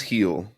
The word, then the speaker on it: Gil: erra at 208 only uh scoble and Luis heel from the Yankees are above him so B got a chance let's hear it so Luis Luis heel has been just absolutely killing it since he's